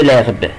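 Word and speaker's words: herbe: يبقى هنا اخلي بالي الاش نو سو برونونس با، ما بتتنطقش. يبقى هقول كده ايل او ال مانج دو لارب، بياكل اعشاب.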